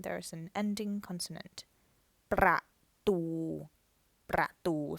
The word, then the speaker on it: ประตู: ประตู ประตู. So that's 2 syllables but 1 word. So ประตู means door. So the first syllable is a dead syllable, ประ, and the second is live, ตู ประตู.